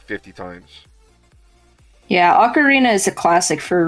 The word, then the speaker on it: ocarina: i'm gonna mispronounce this the or orikana of time ocarina ocarina okay you do pronounce it like arena all right i i